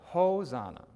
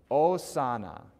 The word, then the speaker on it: Hosanna: in here is that it's not Hosanna right because the H is always silence right unless it's in between two eyes and we might come across that in the course of our studies in the next couple weeks we'll see so it's osana very good okay let's